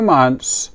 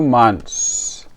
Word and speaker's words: months: But for two months we don't pronounce the th. We only pronounce the s. Two months.